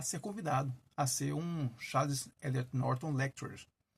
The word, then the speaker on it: Charles Eliot Norton: E, em 84, Harvard convida Ítalo Calvino, primeiro escritor italiano, desde 1926, a ser convidado a ser um Charles Eliot Norton Lecturer. É assim que se pronuncia, o palestrante das Charles Eliot Norton Lectures.